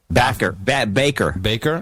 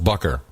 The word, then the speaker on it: Bakker: No, he's from Groningen, so it would be David Rudolph Bakker. He's from but it would be because that's interesting because that's pronounced Baker in the United States. Yeah, but we call that Bakker.